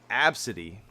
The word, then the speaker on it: Abcde: Her name was Absidy. And I don't know how you think you would spell that, but this girl spelled it ABCDE.